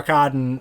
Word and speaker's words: Arkadin: Arkadin, Orson Welles... Yes, that is the correct way to pronounce it.